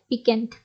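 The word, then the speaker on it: piquant: Next है पिकेंट। पिकेंट इसकी spelling अच्छे से देखिएगा, पिकेंट इसको कहते हैं प्लीजेंट और sharp to the test, interesting.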